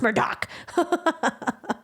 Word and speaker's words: Murdaugh: Alex murder Alex Murdoch people you're pronouncing his name wrong like what do you mean to pronounce exam wrong murder Alex like those are names that are not entrepreneurs people like no it's pronounced Murdock so you know now